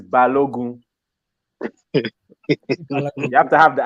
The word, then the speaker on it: Balogun: pronounce it? It's Balogun.